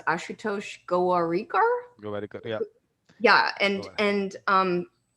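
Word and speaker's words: Ashutosh Gowariker: I think his name is pronounced Ashutosh Gowarikar.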